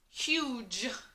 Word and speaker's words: huge: And also the GE, those two letters together, tell you that it's going to be a soft G.